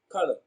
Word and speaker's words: color: shown on the screen so color and sugar have the same vowel sound that the schwa sound color sugar so we can see the schwa in color and in sugar so the answer to